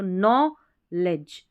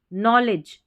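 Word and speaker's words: knowledge: ली नहीं ले और जब भी डी जी ई दिखे तो इसको इसको आपको पढ़ देना है ज। क्या पढ़ना है? ज क्योंकि पूरे ये तीन लेटर्स है। इसका उच्चारण ज होता है। तो नो लेज नॉलेज नॉलेज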